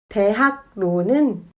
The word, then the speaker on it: 대학로: 받침 기역은 그로 발음되고 리을은 르로 발음되지 않고 느로 발음합니다. 대학로는 대학노로 발음합니다.